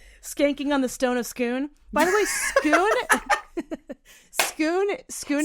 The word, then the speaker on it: Scone: the scone of scoon but skoon is spelled scone scone scone or scoon yeah so anyway everyone says scone and I will not say scone so he he's like